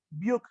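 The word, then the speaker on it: Brücke: Se escribe buque y se lee Buch.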